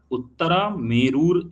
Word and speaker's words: Uttaramerur: इसका नाम, इसका स्पेलिंग है UTTARAMERUR, उत्तरा मेरूर इंस्क्रिप्शन।